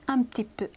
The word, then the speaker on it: un petit peu: 빨리 하면 un petit peu, un petit peu. 이렇게 된다고 말씀드렸죠. 자, un과 비음과 ᄃ 발음이 만나면요. 빨리 하면 m 발음이 나요. un petit peu, un petit peu. 이렇게 돼요.